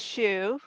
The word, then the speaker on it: Hsu: name is ruth um the last name is shu and uh often i um start off the first class by talking about the shoe my surname uh it's spelled hsu but so students are a little bit you know confused about what to do with the h i'm in the english